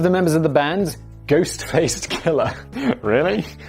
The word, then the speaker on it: Ghostface: Ghost face killer. And by the way, killer is is Oh, it's ghost face. Ghost face, not ghost faced.